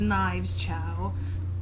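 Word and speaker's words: Knives Chau: but my favorite character it's not ramona it's knives chow that's how you pronounce it i just love her she's so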